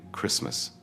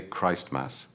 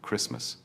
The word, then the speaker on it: Christmas: And finally, Christmas. The T is silent. Never say Christmas. It is simply Christmas.